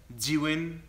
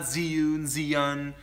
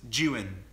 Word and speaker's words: Zhiyun: Today we're going to continue talking about the Zhiyun, that's how you pronounce it, the Zhiyun crane. It's not Zhiyun, it's Zhiyun. That's how you say it, Zhiyun crane.